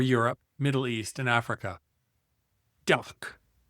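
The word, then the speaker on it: DACH: Duck pronounced D or Da for Germany, Austria, and Switzerland.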